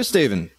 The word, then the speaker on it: Steve: N at the end Steve one syllable none of these two syllables love my family my